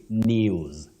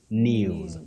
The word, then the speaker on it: news: And Betty, we also say news. News. Not news.